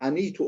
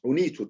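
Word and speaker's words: أعنيت: Arkadaşlar anitu olmaz, unitu diye denir.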